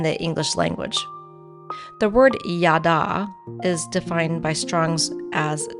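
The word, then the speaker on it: יָדַע: The H stands for Hebrew, and it is a verb and is pronounced yada.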